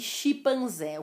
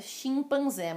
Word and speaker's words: chimpanzé: Chimpanzé e chimpanzé. O correto é chimpanzé, mas já é usado, aceito chimpanzé.